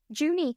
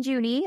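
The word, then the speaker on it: Junee: how to pronounce this place I've been saying juny New South Wales um but let me double check that that pronunciation is correct before I juny ha okay then we're fine um so it's located in juny New South Wales and it is widely regarded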